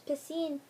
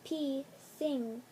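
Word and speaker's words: Piscine: that not so was pacine molator Patel some thought it was P sing and that I was a sink and they wondered why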